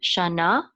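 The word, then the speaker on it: שָׁנָה: This is a nun with a kamatz. It says na, and the hey is silent, shana.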